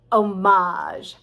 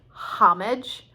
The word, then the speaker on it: homage: uh then there is that word homage that looks like homage and could also be homage which is a special honor or public display of respect for somebody and uh you hear it often when talking about cinema or something like that where it's going to be an homage to blah blah blah so actually all three of those ways homage homage homage i guess so many